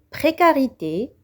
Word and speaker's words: précarité: Le mot précarité, c'est devant la voyelle A se prononce que.